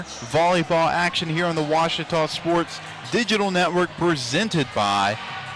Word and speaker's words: Ouachita: for Washita Baptist University back in Texas everybody pronounces it Wichita but really it's Ouachita Washington how would you pronounce it it's Ouachita Baptist University get it right it's Ouachita people it's Ouachita wash your tongue make print